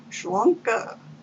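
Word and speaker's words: sláinte: hotel that evening and irish toast just pronounced shronka it's spelled weird s-l-a-i-n-t-e shlanka early the next morning we went to the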